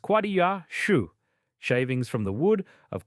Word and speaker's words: Quassia chips: Quassia chips, pronounced quah-dee-ah shoo, shavings from the wood of quassia amara, a small tree native to Suriname.